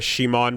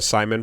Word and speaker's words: Simon: talking Gurren, side note, if you're a Shimon pronouncer or a Simon pronouncer, you've been fighting for years, fight each other, and whoever survives is going to be correct. And in the meantime, we'll just use both interchangeably.